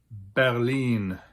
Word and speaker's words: Berlin: Germany's capital and largest city with almost 3.7 million inhabitants is pronounced Berlin.